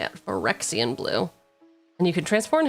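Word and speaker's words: Phyrexian: Four and a Forexian blue. That's how you say it. Forexian blue.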